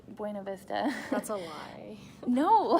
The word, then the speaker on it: Buena Vista: So those are closer, but then I was going to say BV, it's Buena Vista, so don't say it wrong to people that live there. It's Buna for them, but Buena Vista.